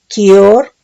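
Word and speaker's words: כיור: Del hebreo 3595 es kior, con K de kilo y acento en la O, y dice que es propiamente algo redondo, excavado o perforado.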